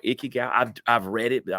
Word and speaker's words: Ikigai: I think it's called Ikigai. I've read it, but I don't know if it's spelled.